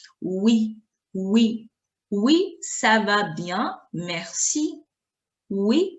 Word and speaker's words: oui: Pronunciation, oui. Oui. The letter we is going a little bending. Oui. Oui. Oui, ça va bien, merci. Oui, ça va bien, merci. Oui, ça va bien, merci.